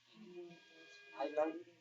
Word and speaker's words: island: Island, the S doesn't pronounce.